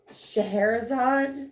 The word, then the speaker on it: Scheherazade: And we met up with Scheherazade.